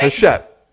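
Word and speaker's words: Hachette: a publicist for his shet how do you pronounce it that's shut which is a global publishing house and she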